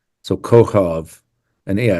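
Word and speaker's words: כוכב: The first K is on the right, looks like a backwards C, and it has a dot in it, so it's pronounced K. The same letter two to the left does not have a dot, so it's pronounced H.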